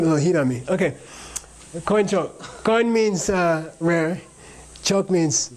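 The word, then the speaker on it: དཀོན་མཆོག: Say koinchok. This is like the only word in Tibetan where you have this thing called a diphthong where you say an oi sound, oi, like oi gavolt, right?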